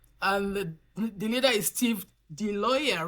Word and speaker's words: DiIoia: have made impact, and the leader is Steve DiIoia, right? Did I say it right? It's DiIoia.